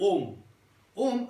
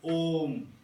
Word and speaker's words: Om: but for the Jains, they break out Om as A-A-A-U-M, Om. So that's how they break down the syllables of Om. First A, second A, third A, A, U, So Om.